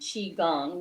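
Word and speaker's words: qigong: salutes real-life redo and yes yeah we do Qi Gong which is Qi it's pronounced CH AE Qi Gong which is a breathing stretching relaxation exercise right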